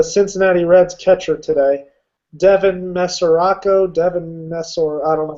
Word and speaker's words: Mesoraco: anything but the Cincinnati Reds catcher today Devin mesoraco Devin mes I don't know how you pronounce his last nameco you just said it